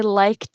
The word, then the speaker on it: liked: So it's I liked it. I liked it. It's more like a tit. Liked it.